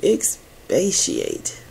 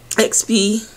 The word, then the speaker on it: expiate: To expatiate. Expiate. I've been saying it wrong.